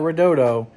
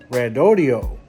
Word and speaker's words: Redodo: that's exactly how they told me it was pronounced rodio not Roto and uh I may say it wrong every